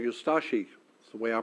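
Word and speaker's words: Ustaše: We pronounce it ustashi. We pronounce the U and de-emphasize the ashi. Ustashi.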